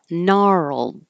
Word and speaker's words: gnarled: because it was artless gnarled the g is silent gnarl and you need